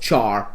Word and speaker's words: char: It's it's pronounced char a lot of times but it's actually stands for character. uh we just don't pronounce it care because that would be that would be weird sounding and char it just